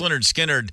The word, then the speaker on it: Lynyrd Skynyrd: you know the B the band you know pronounced Leonard skinnard I mean I was